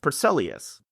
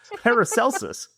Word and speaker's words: Paracelsus: In On the Nature of Things, the Swiss alchemist Paracelsus, I completely mispronounced that, Paracelsus.